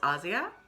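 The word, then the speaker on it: Asja: looks like aja but it's pronounced asia which is how italians i believe would say that um this is you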